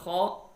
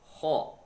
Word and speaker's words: خ: There is a Kha, also throated letter. We pronounce from closest part of throat near the mouth. Kha.